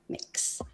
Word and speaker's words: Mx: It's Mix. How you pronouncing it?